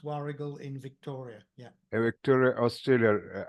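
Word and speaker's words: Warragul: sale at war waru war spelled wul but pronounced wargul in Victoria yeah Victoria Australia and you have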